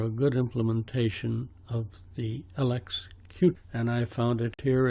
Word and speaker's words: LXQt: this is Gekko Linux LX cute as QT is pronounced and it's a third-party